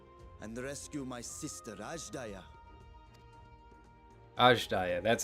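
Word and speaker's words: Azdaja: Ajdaya, that's how it's pronounced.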